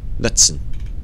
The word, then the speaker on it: Knutson: So Kirsten Knutz, to pronounce the K. Knutson.